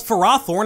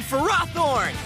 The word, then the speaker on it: Ferrothorn: As far as I can tell, this Pokemon has always been called Ferrothorn in official Pokemon media. I'm using Ferrothorn! But the vast majority of fans call it Ferrothorn instead for various reasons.